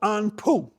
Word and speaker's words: Anpu: We're going to do the pose of Anpu. Okay? Anpu is spelled A N P U.